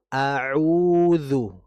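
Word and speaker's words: أعوذ: Namun untuk huruf ainnya saja auzu jadi bedakan antara pengucapan a dan juga pengucapan aa antara u dengan u.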